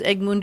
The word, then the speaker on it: Ögmundur: But you pronounce my first name pretty well. Usually, my first name is pretty tough to. Well, it looks like Ogmundur.